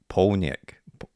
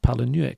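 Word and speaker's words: Palahniuk: and I've checked online which confirms that none of us in fact were H and appar apparently at least according to the thing I quickly found on YouTube by Googling it it's Chuck pnck yeah does that sound I've I've been no not to me but I've been probably saying it wrong I've always pronounced it pal and it's one of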